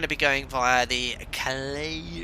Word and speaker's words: Calais: How do you pronounce that word here? Calais.